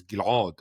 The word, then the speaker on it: Ghil'ad: in my own name, Ghil'ad. My original pronunciation was Ghil'ad, and this Ayin, this